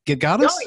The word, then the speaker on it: Gedgaudas: It's pronounced No, Gedgaudas.